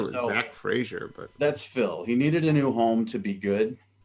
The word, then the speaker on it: Frazier: Fraser. No, it's pronounced Frazier, and everybody was on